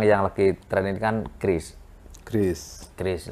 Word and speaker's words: QRIS: Nah, KRIS ini macam-macam sih cara orang baca itu. Ada yang QRIS, ada yang bilang KIRIS, ada yang KRIS. Terus nanti ke depannya kita sepakat aja bahwa kita bacanya cukup dengan KRIS.